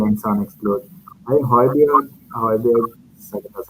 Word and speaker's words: Højbjerg: I think Højbjerg, that's how you say his name.